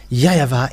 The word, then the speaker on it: YAHVAH: So here it is really seen, the W is really V, but it's the Western who changed it into Wu.